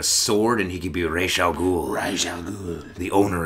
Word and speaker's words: Ra's al Ghul: That's how it's pronounced in Lebanese. Sure. A lot of my Lebanese friends correct me, so it's Ra's al Ghul, not Raz.